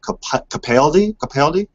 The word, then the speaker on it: Capaldi: pre-show that i guess his name is pronounced capaldi so so uh i